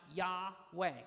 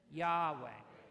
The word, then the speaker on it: Yahweh: so the first one is Yahweh which is pronounced Yahweh you say that Yahweh okay that's number one the second one is